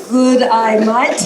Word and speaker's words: G'day mate: Good, I, might.